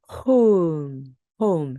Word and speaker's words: home: 호우, 호우 이렇게 발음이 되겠죠. 그리고 M은 미음 발음. M은 미음 발음입니다. 오음, 오음. 이걸 붙여 볼까요? 홈. home, home.